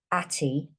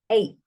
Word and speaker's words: ate: It's got a quiet E on the end, look. So it doesn't say atty, it says 8.